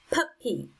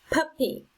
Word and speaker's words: puppy: second syllable number nine puppy puppy it's on the first syllable number ten around around